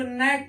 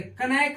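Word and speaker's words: knack: जैसे CNACK, इसको नैक पढ़ते, कनैक नहीं पढ़ते, यहाँ K क्या होता है? साइलेंट होता है।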